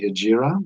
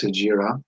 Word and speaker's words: hijra: we would call medina your book calls this the hijra when i when i looked it up online it looked like it's actually hijirah which just might be a different pronunciation so i'm going to use ajira because that seems to be more accurate this event is going